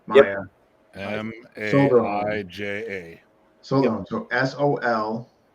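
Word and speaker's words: Maija: It's spelled funny. Yeah, M-A-I-J-A, Maya.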